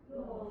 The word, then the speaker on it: Lord: There is no R, the R is silent. Say Lord. Lord.